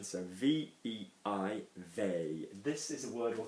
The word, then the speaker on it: veille: Pronunciation, so V-E-I, veille. This is a word we'll come to of what it means in the translation, but veille, actually la veille, means the day before, normally, la veille, okay?